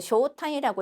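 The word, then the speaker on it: 招待: 자, 이 초대라고 하는 단어를 쇼타이라고 읽고 자, 요 동사도 같이 정보 살펴보겠습니다.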